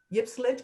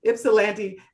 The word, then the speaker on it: Ypsilanti: And James is finding new ways to connect with audiences that he that may not cross the Ypsilanti. I know I'm pronouncing it terribly. Ypsilanti. Right, Ypsilanti.